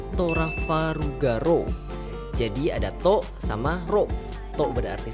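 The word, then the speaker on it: トラファルガー・ロー: dari nama Trafalgar Law kalau di bahasa Jepang pelafalannya itu jadi torah faru ga ro ja Dato sama ruptor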